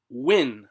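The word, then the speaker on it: Nguyen: good he's in vince win i think that that's a vietnamese name right it's pronounced win n-g-u-y-e-n vince win enter he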